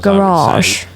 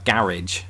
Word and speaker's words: garage: British say it uh garage I'm gonna park the car in the garage Americans do what Southerners in England do with the word bath bath they extend the a garage it's a mouthful